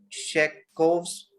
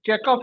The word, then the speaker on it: Chekhov: And Chekhov, you are very correct. The V is pronounced as F.